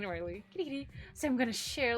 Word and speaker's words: Kirigiri: Kirigiri.